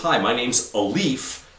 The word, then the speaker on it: Alif: So my buddy Alif says, hi, my name's Alif, kind of like a leaf. It's A-L-I-F, but it's like a leaf, like a leaf on a tree.